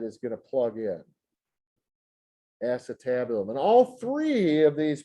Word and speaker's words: acetabulum: is called the acetabulum here's the spelling of it a c e ace and then tab t a b and then u l u n they pronounce that acetabulum that is the socket